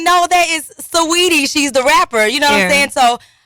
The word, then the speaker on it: Saweetie: Saweetie. Uh-huh. A lot of people get it confused, like Sweetie or like Sweetie, Switey.